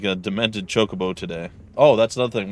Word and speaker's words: chocobo: around like a demented chocobo today oh that's another thing we're gonna have to break a cup of goodness from saying kokobo all the time get him to say it correctly which i i don't